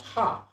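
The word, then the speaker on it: ห้า: codes here in thailand the number five is pronounced ha so when we're laughing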